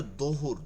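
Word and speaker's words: ظهر: আর আর যেই জোহরে আমরা নামাজ পড়ি ওইটা জহুর না, ওইটা হচ্ছে দোহুর, দোহুর মানে দ্বীপ্রহর, দুপুর বেলা, ঠিক আছে, ওটা দোয়াত থেকে।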